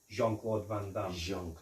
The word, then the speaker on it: Jean-Claude Van Damme: by Jean-Claude Van Damme I think the way you say his name you have to say it pronounce it properly Jean-Claude Van Damme yes John John Claude